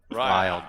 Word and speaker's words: Ryle: Ryle. Ryle. Our name. Dial. It's a Our tough name. one. Rhymes with dial.